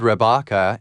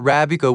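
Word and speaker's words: رَبَّكَ: It is recorded in reliable sources that according to Imam as-Sadiq, the Al-Bayt pronounced the word Rabaka and not Rabika, which meant, "Can you put such demand before your Lord?"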